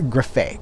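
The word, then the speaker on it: Grefé: this is the william griffey collection william griffey that's her graffay cause it rhymes with like it rhymes with buffet that's how he says it william griffey uh the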